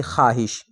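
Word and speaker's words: خواہش: तो इसका दुरुस्त जवाब है ऑप्शन बी यानी ख्वाहिश। ख्वाहिश में जो वाव है वो वाऊ साइलेंट है। वाव पढ़ा नहीं जाएगा।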